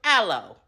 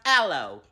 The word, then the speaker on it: Alo: And another brand that I have worn before it became popular within our community was Aloe. It's pronounced Aloe. Not Alo. Aloe.